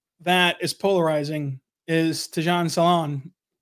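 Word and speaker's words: Salaün: But another name that is polarizing is Tidjane Salaun. I believe I said that right, Derek. What do you think, draft expert? You did say it right. Yeah, Salaun, 6'10", bulky, bulky frame, stands to add even more to that.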